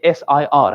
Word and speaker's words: sir: British people say sir, no R. They don't pronounce R in the end. Sir. Sir. But when it comes to American, there's a lot of stress on R. Sir. Sir. R is there in American.